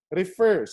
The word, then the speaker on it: refer: final consonant refer refers if you listen carefully to it the stress is on the last syllable or the final syllable refer but when you affix it with the suffix e and c e and becomes reference listen carefully reference so the stress is already on the first syllable reference that means you